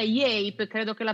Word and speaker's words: Yape: Grazie mille, la pronuncia è giusta, la nostra azienda si chiama Yape e per presentarvela vorrei presentarvela appunto con un video.